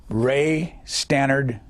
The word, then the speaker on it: Ray Stannard: reluctant Congress to do social and economic legislation Ray Stannard is that way you pronounce it yes Baker who was he well